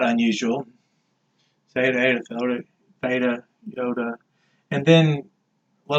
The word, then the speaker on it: eta: Of course, now we have eta. It has a subscript here, and it's like that E in the word they, a long A sound.